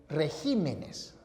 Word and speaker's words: regímenes: Pero atención, si los nombres esdrújulos acabados en consonante, al pluralizar, cambian la posición de la sílaba tónica. Entonces, si la palabra es espécimen, al pluralizar, queda en especímenes. Si la palabra es régimen, al pluralizar, queda convertida en regímenes.